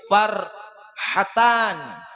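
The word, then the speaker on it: فرحتان: Ada juga as-saimun, puasa itu farhatan. Pakai ha kecil, kada pakai kho.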